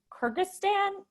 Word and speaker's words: Kyrgyzstan: please i'm sorry i'm really bad with pronounced pronouncing country kyrgyzstan kyrgyzstan okay so he was right there yeah one